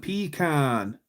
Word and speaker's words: pecan: Never say I can. Say it like James Caan, pecan.